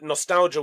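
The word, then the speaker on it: Gnostalgia: Yeah, with Brian, Nostalgia with a silent G.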